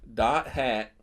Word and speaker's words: .hack: .hack. That's what it's called. .hack GU last recode. There's a whole bunch of other stuff in there but that's how it's pronounced.